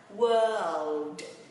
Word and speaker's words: world: Và thế giới thì mình chữ L lên ha. World.